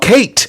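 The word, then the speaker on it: Khaite: It's called Kate, but it's spelled K-H-A-I-T-E, which in fact means long hair in Greek.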